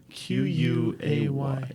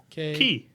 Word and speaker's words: quay: Q-U-A-Y. K? Key. It's key. I thought it was key. Quay. It's key.